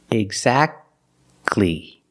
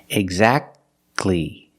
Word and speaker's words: exactly: Exactly. You go from the k sound to the l sound. Exactly.